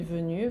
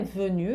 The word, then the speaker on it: venue: Na pronúncia é a mesma, é na escrita que no feminino você vai ter que marcar um e.